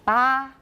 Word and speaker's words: bottom: The time scale at the bottom shows Bottom, that not bottom. That's British. At the bottom. At the bottom. Ba, 不是 bo. Ba, everyone bottom.